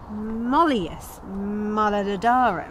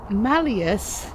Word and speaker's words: malleus: matadora the malleus maleficorum the mollius no the malleus you know what doesn't